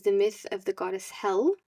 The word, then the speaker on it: Hel: And an interesting story connected to this is the myth of the goddess Hel, spelled Hel. And it's from this goddess Hel that we now have our hell, pronounced Hell.